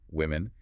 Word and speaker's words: women: The singular, woman, is produced with a rounded, heavy w sound in the first syllable. The plural, women, shifts the first vowel entirely to a sharp, high OS sound. Even though there's an O in the spelling, it's totally counterintuitive.